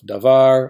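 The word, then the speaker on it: דָּבָר: If the syllable has the accent, well, duh, we call it the accented syllable, like meh of melek, var of davar, or ka of malka. Some people call it the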